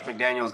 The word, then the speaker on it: McDaniel: It's spelled different. McDaniel, Josh is with an S, and Mike is with no S. It's just McDaniel. It's McDaniel. So it's not.